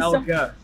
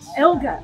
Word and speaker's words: Elgar: No, it's not. No, it's just normal. Just Dean. Dean Elgar. Thank you. Elgar. Elgar. Yeah, you don't say vinegar. You say vinegar. So here it is already, Dean Elgar.